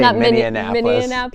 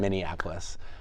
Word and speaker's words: Minneapolis: time in Minneapolis so I've learned how to say it correctly I think right I used to say miniapolis yeah yeah just Minneapolis um but we're we're